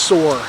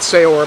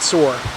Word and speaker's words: Saor: and she said that it actually is pronounced soar the band so not sayor but sore but uh Isle of